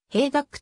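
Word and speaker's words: Hejduk: およびミッドフィルダー兵力と表記されるがヘイダックと発音する現役引退後は長年過ごし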